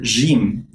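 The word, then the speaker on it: جيم: did you know that the letter jim one of the letters in the arabic language is pronounced like je as letter j in french while in egyptian arabic it's only it's pronounced as the hard g sound so once you hear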